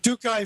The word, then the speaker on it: Tokai: How do you pronounce it? Tokai Pharmaceuticals? What? Tokai Pharmaceuticals, yes. Tokai Pharmaceuticals, or Pharma Inc.